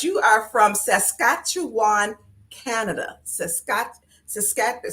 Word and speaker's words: Saskatchewan: Saskatchewan. See, I said it right the first time.